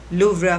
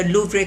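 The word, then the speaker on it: Louvre: Ceremonial dinner eight iconic लूव्रा museum on July 14। अब लूव्रा museum, लूव्रा या लूव्रे कहा जाता है, उसमें इसमें प्रोनाउंसिएशन फ्रेंच में कुछ और है, लेकिन इंग्लिश में आप लूव्रा म्यूजियम कहेंगे इसको।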